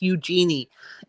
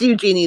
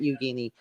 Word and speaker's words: Eugenie: saw a wicked pickles that is it Eugenie or Eugenie it's Eugenie it's Eugenie that's how you pronounce her name not Eugenie I think that's what